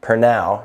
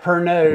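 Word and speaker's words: Pernod: mixed drink of whiskey per now you got to say it right not per node no not for node like i first set it off for now uh syrup bitters lemon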